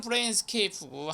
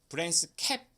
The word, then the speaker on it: Brainscape: 자, 이 하나는 브레인스케이프고 하나는 브레인스랩인데 이것까지도 발음이 유사한가? 이렇게 생각할 수도 있겠는데 이 경우는 저도 좀 많이 의아했는데 담당 심사관이 이 브레인스케이프 BRAINSCAPE 이거를 읽을 때 브레인스캡 정도로 읽었던 것 같아요.